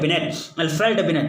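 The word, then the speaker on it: Binet: रहा है कि अल्फ्रेड बिनेट यानी अल्फ्रेड बिने का, यानी यहाँ क्या है, बिने है या बिनेट है, अंग्रेजी में नाम, यहाँ क्या है, बिनेट, टी लगा हुआ, टी साइलेंट है।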